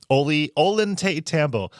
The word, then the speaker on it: Ollantaytambo: Can you spell it real quick? Ollantaytambo.